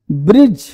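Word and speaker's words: bridge: Silent है। बजट बजट ब्रिज जज नहीं डी क्या है?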